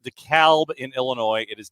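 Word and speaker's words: DeKalb: they're enjoying moranic rise it is it is pronounced the calb in Illinois it is the cab here in the Atlanta area Okay biggest disappointment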